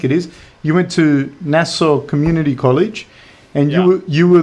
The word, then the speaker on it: Nassau: How do you pronounce? Oh, so yeah, Nassau Community College. Can you say it again so I don't? Nassau, Nassau, Nassau.